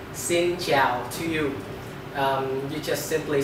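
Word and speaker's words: Xin chào: vietnamese to be easy if a person say xin zhiao to you you just simply say xinjiao back and that's it i'm gonna repeat the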